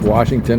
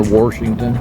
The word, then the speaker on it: Washington: Well, you you were the ones asking earlier about whether we pronounce Washington or Warshington. Yeah, that was Megan. I My best friend says Warsh and I I say Wash.